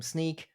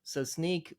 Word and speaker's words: Snyk: ago, Brian Vermeer from Sneak. I just learned it's actually pronounced Sneak. All right. And they're also in the security space, but from my understanding, ARMO is slightly different. So Sneak mostly looks at like